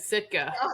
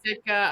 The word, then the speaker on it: Sitka: That's how I say it, Sitka.